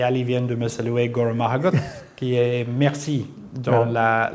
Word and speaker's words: Go raibh maith agat: Et vous me permettez une dernière chose, excusez la prononciation, Guru Mahagut.